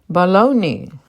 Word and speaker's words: bologna: tomato Annie Annie bologna this word's usually read wrong by most people baloney temperature temperature yogurt yogurt